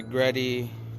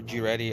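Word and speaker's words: GReddy: spoon valve cover um this is gretty or g reddy i don't know how you pronounce that i think it's a gretty it's not mistaken see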